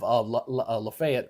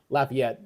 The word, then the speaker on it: Lafayette: got this one here uh basically on Interstate 10 to the west of Lefayet or Lafayette, not Lefay, La Lafayette, Lefayets in Alabama, but they spelled the same.